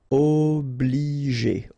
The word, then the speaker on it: obliger: Okay, remember when you get G and after that the vowel E, then you pronounce it J. Okay, and then here, well, R at the end, as usual, you pronounce it E, G. Obligé, obligé.